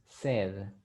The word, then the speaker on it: said: is nature nature and she said said is the past of say but you say said the pronunciation is said next one constantino paragraph